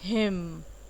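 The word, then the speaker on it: hymn: फिर क्या आएगा आपका हिम। आप देखिए एन वर्ड बिल्कुल नहीं उतना बोला जा रहा है, सिर्फ और सिर्फ एम पे एम्फसाइज किया जा रहा है, तो हिम यानी कि भजन।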